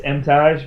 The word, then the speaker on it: Emtage: If I'm in Canada, it's Emtage because they pronounce it as the French would. Okay. Otherwise, it's Emtage. It's fine.